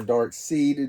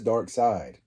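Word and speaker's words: Darkseid: Dark Side or Dark Seed, depending on how you pronounce it. At first, I was calling him Dark Seed, but I believe it is Dark Side.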